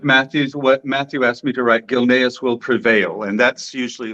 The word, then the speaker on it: Gilneas: So am I pronouncing this right? Gilneas, yeah?